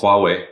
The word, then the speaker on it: Huawei: Can you pronounce it for me, please? Huawei.